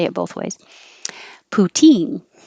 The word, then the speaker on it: poutine: say it both ways poutine now this is the stress on the second syllable putin it's delicious put